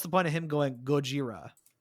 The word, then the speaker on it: Gojira: Now, is him referring to him as Gojira, like, is that really like an Easter egg? Because I guess that's how you pronounce the character's name in Japanese.